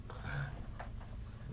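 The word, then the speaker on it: עם: I'm in trouble printing today. It's spelled like this: ayin final mem with a dot, im.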